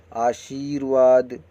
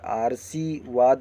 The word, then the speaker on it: आशीर्वाद: जैसे आशीर्वाद, यहाँ पे ये देखिए, ये अशुद्ध है वर्तनी और ये है आशीर्वाद। यहाँ पे सा के ऊपर उन्होंने रा लगा दिया है, आरसीवाद नहीं होगा, आशीर्वाद होगा।